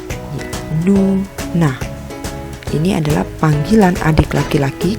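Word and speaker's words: 누나: Ada nien dan u, lalu nien dan a. Maka dibaca nu, na.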